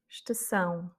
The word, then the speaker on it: estação: Estação. Donc ici, on a le tilde sur le A, c'est un accent, et donc l'accent tonique.